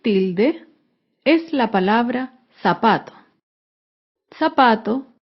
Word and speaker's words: zapato: es la palabra zapato zapato se acentúa en la penúltima sílaba pero no lleva tilde porque termina en vocal zapato otro ejemplo de